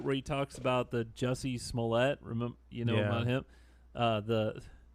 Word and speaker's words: Jussie Smollett: he talks about the jussie Smollett remember you know him the but cuz the way it's spelled he calls this is this French guy juicy small a everyone has you can